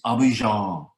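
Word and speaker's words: Abidjan: too much but uh get the pronunciation right and it's abhijon and if you pronounce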